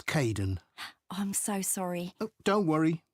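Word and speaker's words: Kaeden: welcome to the team hi Aiden uh it's Kaden I'm so sorry don't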